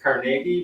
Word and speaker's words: Carnegie: When I say his name, I pronounce it Carnegie because that's how he said it. Yet when I talk about his libraries, it always comes out of my mouth, Carnegie Library.